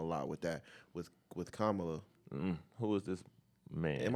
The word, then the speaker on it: Kamala: helped him a lot with that with with kamla who is this man am I saying it again Kamala you said it right kamla is kind of